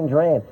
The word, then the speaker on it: Duran: That is, that's Duran Duran's Wall of Sound, isn't it? Oh. Phil Spector, Eat Your Heart Out. Duran. I think that's the pronunciation, isn't it? Duran. That's what the girls said outside EMI.